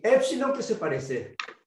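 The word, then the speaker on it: ἐψιλόν: Cuando uno pronuncia, cuando aparece epsilon E corta es E Epsilon. y Epsilon. eta E larga.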